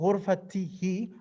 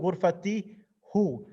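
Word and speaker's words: غرفته: Nafidatu ghurfatihi, window of his room. The pronoun he should be nafidatu ghurfatihu. Because of difficulty of pronunciation, the hu changes to a kasra.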